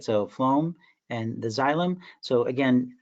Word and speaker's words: phloem: So when you pronounce the word phloem, right, has that F sound, right?